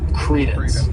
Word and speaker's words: credence: syllables and the stress is on that first syllable Credence and what it means is the belief as